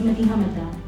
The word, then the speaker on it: Madiha Mada: Madiha Mada, pronounced by my parents as Madiha Mada.